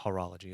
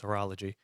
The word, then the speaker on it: horology: couple of comments of people saying that I mispronounce things, but I know it's not horology, it's horology, and I know it's not a horologist, it's a horologist.